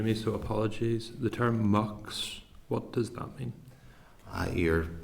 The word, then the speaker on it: Mx: So it just says, don't use the term miss, use the term mucks, MX, or pronounced as MUX.